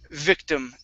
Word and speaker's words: victim: Okay, and the last word for you is victim. Give me a good V sound. Instead of victim with a B, it's V.